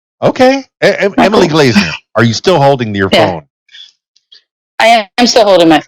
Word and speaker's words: Glazener: Emily Glazener. Did I pronounce that correctly?